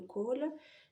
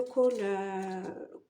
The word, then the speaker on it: khôl: à l'intérieur alors le col qu'est-ce que ça veut dire exactement alors ça s'écrit kho circonflexe l et en réalité ça se ça se prononce cool veut dire noir en